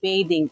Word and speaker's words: bathing: Spelling same है, BATHING, बाथिंग इसको बोलते थे, एंड BATHING बेदिंग इसको बोलेंगे बेदिंग।